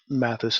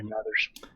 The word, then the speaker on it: Mathers: It's Mathis in the U.S. No, it's there's an R in it. I think it's Mathers. Oh, there's an R? The soft TH. Yeah, that'd be Mathers.